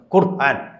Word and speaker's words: ഖുർആൻ: ഖുർആൻ അനുസരിച്ച് തന്നെ ജീവിക്കണം ഖുർആൻ എന്നാണ് അതിന്റെ ശരിയായ ഉച്ചാരണം ഖുർആൻ അനുസരിച്ച് തന്നെ നമ്മൾ